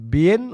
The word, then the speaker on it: Bien: Saan paglitok sa imong ngalan? Bien? Saan pag-pronounce na? Ma'am Bien? Bin na yung ngalan kuya, Bin.